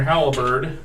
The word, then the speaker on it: halberd: All right, you jam your halberd into it and Halberd. make it 2 syllables.